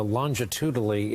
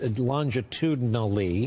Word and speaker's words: longitudinally: the exception of Arizona longitudinally it's longitudinally got it I cheated myself on a syllable that first time uh you could make